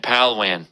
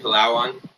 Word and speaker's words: Palawan: Google Boracay and Palwan. I'm sure that's exactly how you pronounce those two beaches. Boracay and Palawan. I was close.